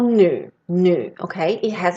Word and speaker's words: 女: Right, and why it got, okay, so as I said, this one is called nu, okay? It has its own pronunciation.